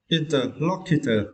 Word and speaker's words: interlocutor: And for the next word, interlocutor. Okay, interlocutor. And for this word, you need to stress the third syllable, right? Lo.